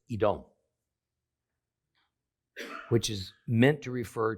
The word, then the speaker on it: Edom: and Eve however the two words are spelled the same doet me in Hebrew see it's only when we add different vowel sounds and then pronounce it out loud that we come up with Edom versus Adam and more importantly for